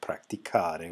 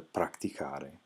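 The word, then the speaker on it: praticare: You would go from practico, and then on the next one, the two form, you would add an I, and that would end up being pronounced pratici. But if you go back up to the infinitive, you have practicare with a hard C sound there. Well, in order to bring that back, you have to add an H.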